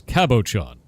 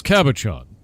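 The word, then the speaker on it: cabochon: Ah, the ch is s, so it's kabashon. I was told by Princess Aana that it's Kabakan, but it's Kabashon.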